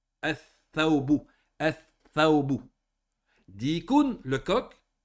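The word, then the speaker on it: الثَّوْبُ: Le tha fait partie des huruf shamsiya. Comment on va prononcer si on rentre à l'iflam? On va prononcer ath-thawbu.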